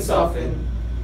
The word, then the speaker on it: soften: The same applies to listen soften.